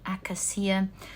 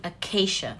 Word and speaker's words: acacia: the ancient tree the I think it's pronounced the akasia one of you corrected my pronunciation to it in the comments section and I think it was the accuracy let me check no it's the acacia thank you guys so